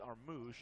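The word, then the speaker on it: Armus: didn't feel him anyway he spells his name a-r-m-u-s and it's pronounced our moosh and i you know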